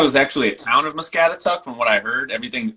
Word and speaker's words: Muscatatuck: Yeah, Muscatatuck. How do you pronounce that?